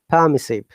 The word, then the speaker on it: permissive: this accent is strict permissive by the way i remember that i'm trying to follow the rpx and where r is silent in british accent but in american accent are r must be pronounced so it's permissive so